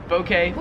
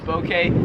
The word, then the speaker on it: bouquet: video 46 is bouquet so I say bokeh but like a soft o bouquet here at Australia they would pronounce it bouquet a bouquet of flowers